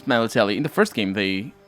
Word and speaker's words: Melitele: MELITELE'S heart can once again bring luck.